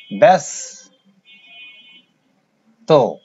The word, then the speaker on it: ব্যস্ত: যেমন ব্যস্ত, আমাদের কিন্তু এখানে আকার নেই, কিন্তু উচ্চারণের বেলা আকার আসছে। ব্যাস তো এখানে হসন্ত হবে, ব্যস্ত।